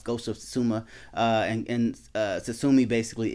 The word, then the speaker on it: Tsushima: i'm saying so that's basically i i kept pronouncing it um incorrectly but now it's ghost of suzuma uh and uh tsusumi basically is a island